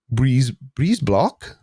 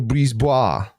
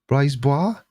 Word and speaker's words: Brisebois: Where's Briseblock? Brisebois. Brisebois? That's a very difficult name to say. I know it's bois on the end because for some reason which I will never understand, It's spelled B-O-I-S.